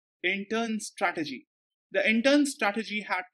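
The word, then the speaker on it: Incheon: 3 of intern strategy this is pronounced as in turn it's a place in South Korea intern strategy the intern strategy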